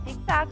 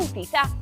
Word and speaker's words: zigzag: Pero tamén esas poden ter unha pronuncia relaxada. Zigzag pode lerse zigzag ou zizá.